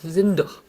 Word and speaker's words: sind: zin트와 seid 모두 내가 단어 맨 끝에 오기 때문에 느가 아니고 트가 됩니다. 발음이 안 되니까요. sind, seid 이게 안 되거든요.